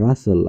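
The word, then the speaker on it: rustle: এল ই, এই যে টি এল ই এর উচ্চারণ বাসল, বাসল অর্থ হলো অতিশয় কর্মব্যস্ততা। আবার রাসল, আর ইউ এস টি এল ই, রাসল অর্থ খসখস শব্দ।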